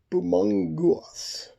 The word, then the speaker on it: Bumongous: Bumongous. Bumongous. Bumongous. Oh yeah, see, it's got mongoose.